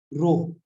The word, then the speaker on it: rho: तो अगर मैं उसके साथ एक कांस्टेंट लगा दूं, यहाँ पे वो क्या है, रो, ए रो, ठीक है, इससे छोटा अरे सर रोप बोलते हैं, रो बोलते हैं।